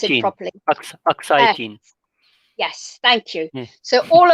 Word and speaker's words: Aksai: that's occupied by China, the is it called Akasai? I can never pronounce it properly. Aksai.